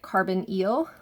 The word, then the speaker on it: carbonyl: It looks like carbonyl, but we pronounce it carbonyl, like underwater eel.